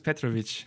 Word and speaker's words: Petrovich: Am I saying it right? Yeah, it's close enough. Petrovich. Yeah, that's actually surprisingly good, yeah. Yeah? Serbian name. Especially the ch at the end, yeah. That's what people struggle with, yeah.